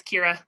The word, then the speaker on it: Kyra: to say it's Kyra. It's a weird one to pronounce.